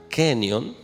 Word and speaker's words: Kenyon: Hubo un científico llamado Dean Kenyon, se pronuncia Kenyon.